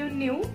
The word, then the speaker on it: knew: KNEW न्यू हा word आहे. Spelling के ने स्टार्ट होतोय, पण त्याचा साऊंड एन आहे आणि नो मधला NO मधला एन साऊंड सुरुवातीचा.